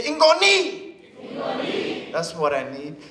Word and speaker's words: ngoni: Say it like this. Say ingoni.